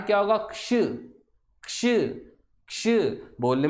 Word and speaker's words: क्ष: तो इसका उच्चारण क्या होगा, क्ष, क्ष, क्ष।